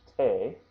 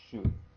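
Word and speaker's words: 手: before, which means hand, we pronounced it before as te, and it can also be pronounced as shu, and there's the katakana right there for shu, but it can also be te. In this context, it is shu.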